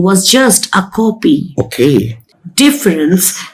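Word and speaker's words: différance: Then there is his sneakiest idea, difference. I know difference. What's new in it? It's spelled difference with an A. But sounds exactly like difference.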